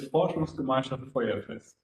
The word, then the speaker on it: Forschungsgemeinschaft Feuerfest: And here I will ask for help from you if you can pronounce me full FGF, because I will not try. Yeah, it's Forschungsgemeinschaft Feuerfest.